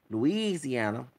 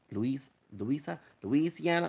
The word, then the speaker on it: Louisiana: Since the French were mostly Catholic, they came to Spain and Florida, Spanish Florida, and Louisiana, Louisiana, because it like Louise. Okay, that's how it's pronounced.